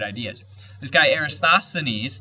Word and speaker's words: Eratosthenes: right ideas this guy aristosthenes tough word to say era tossed the Ines it's uh sth that's the hard syllable right there eratosthenes uh he calculated the